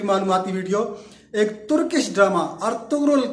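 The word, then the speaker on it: Ertuğrul: तुर्की जबान में गैन को साइलेंट पढ़ते हैं तो इसलिए अर्तुगरुल पढ़ा जाता है, और उर्दू में हम लोग रे को ज्यादातर साइलेंट पढ़ते हैं तो इसलिए हम इसको अर्तुगरुल पढ़ते हैं।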